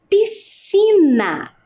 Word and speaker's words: piscina: Com SC, quer dizer que preciso colocar o S, o C, e quando eu faço a pronúncia, né, pronuncio essa palavra, ela tem apenas um único som, né?